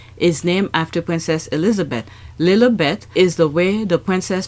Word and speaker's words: Lilibet: Market this week is named after princess Elizabeth lieth is the way the princess pronounced her own name and let's not forget